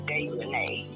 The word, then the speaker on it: Dejane: Her name is Dejane. Yeah, that's Dejane. It. It's Dejane because it's got A-E on the end.